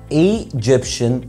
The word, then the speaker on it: Egyptian: والمشكله الثانيه لما بنيجي نقول الجنسيه، ما فيش حاجه اسمها ايجيبشن. اي ام ايجيبشن. التي اي اي ان بتتنطق شن. ام ايجيبشن ايجيبشن. يبقى Egyptian we Egypt.